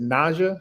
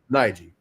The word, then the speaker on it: Najeh: Uh, how do you is it is it Naja? How do you say your name? Nigi.